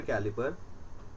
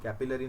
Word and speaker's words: कैलिपर: instrument में भी vernier कैलिपर vernier कैलिपर कैपिलरी नहीं है कैलिपर स्पेलिंग देख कर लगता है की कैपिलरी है बोल देते बहुत सारे बायो के स्टूडेंट हैं बट नियर कैलिपर